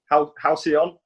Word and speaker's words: Halcyon: And welcome, Halcyon. Is that how you pronounce it? Yes. Halcyon, yeah.